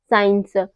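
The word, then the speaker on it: science: पर सी साइलेंट है साइंस muscles seizures seen in सब में क्या है इन सब में एस के बाद हमारा सी आ रहा है तो सी यहां पर क्या हो रहा है सी यहां पर हमारा साइलेंट हो रहा है अगला रूल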